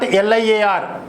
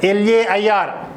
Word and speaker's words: lair: Today's vocabulary LAIR, lay, not LIAR. It's LAIR. Revelry, REVELRY. GAOL, how to pronounce?